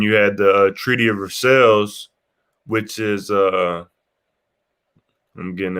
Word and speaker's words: Versailles: Yeah, so that Treaty of Versailles, it's actually pronounced Versailles.